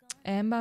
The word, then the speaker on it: Amber: Amber mit Betonung auf A.